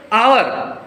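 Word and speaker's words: hour: है घंटा है ना आवर एच साइलेंट रहता है भले ही कंसोनेंट साउंड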